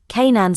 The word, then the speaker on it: Canaan: The English term Canaan, pronounced Canaan since c. AD 1500, due to the great vowel shift, comes from the Hebrew, Knn.